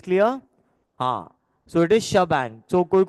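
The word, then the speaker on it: shebang: okay is this clear ah so it is shabang so pronounce sh bang is what basically you will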